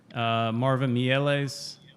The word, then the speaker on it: Marvin Mieles: Marvin Mieles is in there.